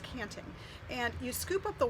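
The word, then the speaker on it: tjanting: guys so this is called the canting tja and TI ng pronounced canting and you scoop up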